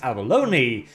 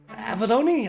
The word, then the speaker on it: Avellone: fairly lengthy post from chris abalone avaloni i think i've heard it pronounced like that so i'm gonna roll with it where he talks a